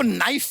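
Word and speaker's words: knife: शर्मा जी आपको नाइफ word मालूम है नाइफ उसमें शुरुआत में जो के होता है वो क्या है साइलेंट आप भी रहिए सर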